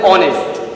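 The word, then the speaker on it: honest: দেখো একটা বাওয়েল আছে ও, এই ও থেকে উচ্চারণ আমার শুরু হচ্ছে আওয়ার, তাহলে এন আওয়ার বলে। তারপর দেখো অনেস্ট, এন অনেস্ট।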